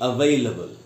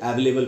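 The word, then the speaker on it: available: एल ए बी एल इसको पढ़ना चाहिए अवेलेबल इसको भी हम लोग अक्सर अवेलेबल पढ़ लेते अवेलेबल नहीं पढ़ना है दोस्तो अवेलेबल तो पढ़ेंगे काउंटेबल अनकाउंटेबल अवेलेबल एक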